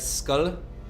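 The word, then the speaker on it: Skål: of grunting also true in Australia we pronounce it more like skull yeah everyone says it there's a couple people um I know the you the people in the UK they they do skull I don't know as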